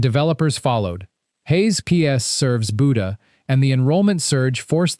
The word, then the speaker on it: Buda: It's pronounced Buda, and if you get it wrong, locals will correct you immediately.